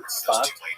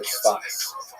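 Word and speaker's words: צפת: And that is the incredible explosion of spiritual, literary, religious activity that occurred in the northern Israel city of Safed, pronounced in Hebrew Tzfat or Tzfas.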